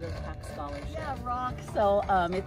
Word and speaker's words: Roch: Yeah, Roch. So it's pronounced like, you know, rock, like a rock.